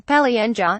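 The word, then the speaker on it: полынья: ice pack it is a loanword from russian paulínia russian pronunciation Pelle Anja which refers to a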